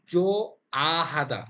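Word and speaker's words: 좋아하다: জো হিউদটা বাদ যাবে জো আ হাদা জো আ হাদা বিষয়গুলো কিন্তু খেয়াল রাখতে হবে তাহলে হিউদ যেহেতু উচ্চারণ হবে না তাহলে এখানেও হিউদ আছে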